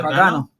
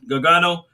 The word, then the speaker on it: Gargano: was johnny gargant gargano jose pronounced his last name gargano gagano carrion cross dakota kai